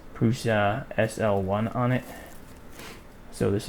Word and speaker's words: Prusa: Prussa. I don't know. I've heard it pronounced both ways. I like to call it Prussa, not Prusa. But that's just me.